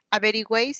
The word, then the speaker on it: averigüéis: Averigüéis está formado por 3 vocales. Es un triptongo. Pero al pronunciar, ¿dónde recae la mayor fuerza de voz? En la última.